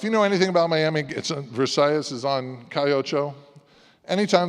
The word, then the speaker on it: Versailles: And then we also feature the Valls family in Miami, the people who founded Versailles Cuban restaurant, as Barb insists that I pronounce it that way, the Spanish pronunciation.